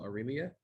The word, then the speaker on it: Aurelia: um uh this is pronounced like Amelia but with an R so Aurelia I apologize